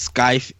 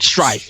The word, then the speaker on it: Strife: You play as Scythe in did I say it right? Strife. Not Scythe.